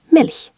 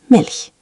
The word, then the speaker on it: Milch: Try Milch with that soft, airy sound. Milch.